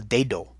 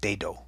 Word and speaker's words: dedo: Pat yourself on the back if you didn't put D-A-D-O, because your very intelligent English mind really wants to make that A sound into an English A, but it's E like in peso, E, P-E-S-O.